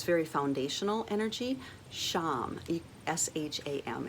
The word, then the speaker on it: sham: it's very foundational energy s-h-a-m it would really be s with the slant over it like shiva s-a-m with the slant